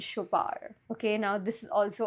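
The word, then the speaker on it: Chopard: बट it's wish from शोबार द D silent शोबार okay now this is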